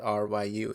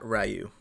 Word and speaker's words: Ryu: the words Ryu right R Yu it's it's pronounced Ryu not rayu or or I think